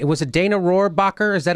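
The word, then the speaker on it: Rohrabacher: D, was it Dana Roarbacher?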